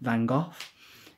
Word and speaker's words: Van Gogh: I say Van Gogh because that's how they pronounce it. We call him Van Gogh.